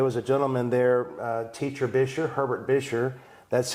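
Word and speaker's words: Buescher: How do you spell it? B-U-E-S-C-H-E-R, Bisher.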